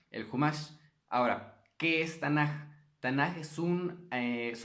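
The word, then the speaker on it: תנ״ך: Si tiene puntito en medio es como una K. Si no tiene el puntito es como una J. Entonces puede ser Tanaj. Se pronuncia Tanaj.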